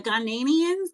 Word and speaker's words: Ghanaians: Apparently, in Ghana, the Ghan, the Ghanaians, that's how you pronounce people from Ghana.